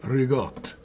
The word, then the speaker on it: ricotta: When you pronounce an Italian word, so like ricotta, which is R-I-C-C, yeah. The C's turn into G's. Yeah. And you cut the word. So you don't say regatta, you say rigotte.